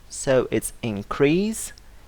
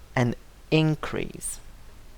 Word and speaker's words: increase: differently from the noun in the verb we stress the second syllable so it's increase while in the noun the stress falls on the first syllable and increase now if you want